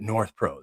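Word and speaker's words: NorthPro: when you like that north pro they just bang two syllable pow north pro you get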